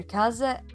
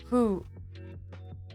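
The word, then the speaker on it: 風: And, I mean, this sign can be pronounced either kaze or fu. Fu, kind of.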